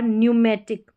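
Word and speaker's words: pneumatic: Number 13 पर है P silent. P और एन के कॉम्बिनेशन में। यहां पर देखिए निमोनिया और न्यूमेटिक।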